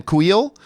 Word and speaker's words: Kuiil: Oh, dude, I'm telling you what, when the death of Kuiil, I never know how to pronounce his name. Kuiil?